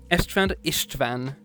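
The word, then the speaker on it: István: change later on uh Ishtvan Ishtvan with you want to spell it for you I S Van Ishtvan um but So after Gaza dies in 997, we have our first of a theme.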